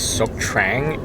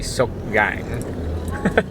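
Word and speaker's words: Sóc Trăng: it wrong all this time it's it doesn't pronounce this sook trang it's actually so gang the tea is silent so um we just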